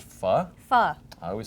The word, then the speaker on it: pho: or something like that, I'm going to go for this. And it's pronounced fu.